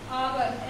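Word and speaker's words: hour: Okay, ऐसे एक word और है ऑनर, sorry sorry आवर, एच ओ यू आर, इसका भी एच साइलेंट है और इसको हम यहाँ से पढ़ते हैं आवर, तो इसलिए इसके इसके पहले भी हम एन का यूज करते हैं.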